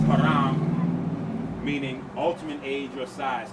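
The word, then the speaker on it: هرم: The Arabic word for pyramid is pronounced haram, meaning ultimate age or size.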